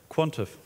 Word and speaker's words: Quantive: Quantive. Quantive, okay, thank you.